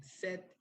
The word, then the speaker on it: said: is says says and when in past just like this one we pronounce it set just like mariana did